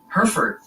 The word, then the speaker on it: Hereford: They're adamant it's pronounced Hereford County, like the cattle.